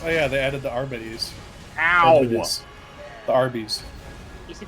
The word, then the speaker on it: Arbites: The technical term is Arbites. That's like how you're supposed to pronounce it, but I literally call them Arbites because it's funnier.